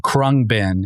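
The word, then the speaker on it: Khruangbin: Um but the band is called Kungbin.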